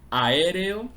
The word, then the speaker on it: aéreo: la pronunciación como en la palabra aéreo aéreo tendría cuatro sílabas no podemos pronunciar las juntas Esta es una indicación